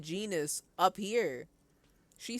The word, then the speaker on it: genus: I have never heard anyone pronounce this word like gayness.